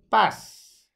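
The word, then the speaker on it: πᾶς: That word is Greek 3956 and it's pronounced, I think, pass. And pass or pass means everyone, the whole.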